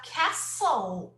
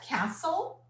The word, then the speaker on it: castle: okay this is the castle isn't it so let's repeat this is a castle isn't it pay attention to the pronunciation we say Castle okay we don't pronounce the T Castle yeah we don't